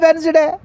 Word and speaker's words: Wednesday: That is the Wednesday. For example, the restaurant is always closed on Wednesdays. D is a silent letters.